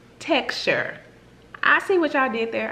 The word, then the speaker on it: TXTR: or is actually pronounced texture IC which I did there I see what you did so on the back it states pronounced texture that can - is